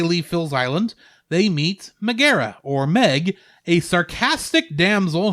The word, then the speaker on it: Megara: But not long after they leave Phil's island, they meet Megara, or Meg, a sarcastic damsel whom Hercules saves from the centaur Nessus. It's pronounced Megara. Megara.